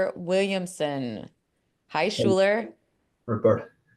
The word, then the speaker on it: Schuyler: It's easier to say than Schuyler, but my mother would be so upset every time someone would say the name wrong because she would think, oh, they're just all wrong.